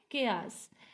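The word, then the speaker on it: chaos: इन द केयास, इसको हम क्या प्रोनाउंस करते हैं, केयास।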